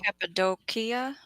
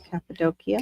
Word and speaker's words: Cappadocia: Oh, that you pronounce the second C like a K. Oh, Cappadocia. Cappadocia. Cappadocia. Wild. So both of them are a hard C.